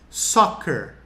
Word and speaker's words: soccer: E cuidado com a pronúncia dessa palavra. Soccer.